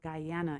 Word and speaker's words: Guyana: He's a fusion reggae artist hailing from the small country of Guyana in South America.